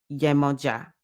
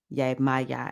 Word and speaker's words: Yemoja: And you're connected to 5 Orisha, Eshu Alegua, Obatala, Heru, Oshun, Yemoja. Yemaya is how they say it in the diaspora a lot of times.